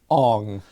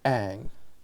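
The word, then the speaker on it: Aang: There's no movie in Bussing say, but the way that they say his name, Ong. Yeah, I know. Just like, are you kidding me? Why? You have a show where they say Ang, and then you go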